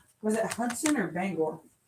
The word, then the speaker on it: Bangor: used to live in Bangor, Maine. So, I was getting very agitated by how many times they kept calling it banger.